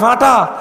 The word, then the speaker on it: ফাটা: সিরে, কথা কয় না, ফাটা আর কি, ফাটা শুদ্ধ ভাষায় বলা হয় ফাটা, আমরা কই কালা ফাড়া। ওই খাইসুম মাখরাজ থেকে আমরা কথা উচ্চারণ করি তো চন্দ্রবিন্দু হয়ে যায় হাড়া। কিশোরগঞ্জ কি কয়? ফাটা তো শুদ্ধ ভাষা, গ্রামের ভাষা কি কয়? ফাড়া।